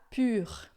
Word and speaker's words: pur: Vetes deja pur. Tá? Aqui a pronúncia é muito importante. Vetes deja pur. A gente vai fazer uma boca de u e vai falar i e vai ficar pur.